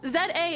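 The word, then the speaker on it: Z-A: Um, Pokemon Legends Z Oh, Z A is said like CD.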